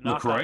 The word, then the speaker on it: La Croix: let LB tell us how to pronounce it. It's La Croix.